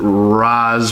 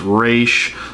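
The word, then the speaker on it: Ra's: a normal occurrence that people pronounce it raz but it's actually supposed to be pronounced race so it is rachel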